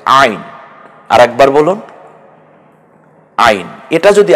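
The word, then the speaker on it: عين: জ পরের হরফের নাম আইন একটু গলায় চাপ দিয়ে বলতে হবে আইন আরেকবার বলুন আইন এটা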